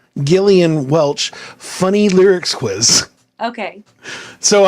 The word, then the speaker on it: Gillian Welch: but this is a Glenda Welch am I saying it right glenia glenia how do you say it Gillian Gillian Welch funny lyrics quiz okay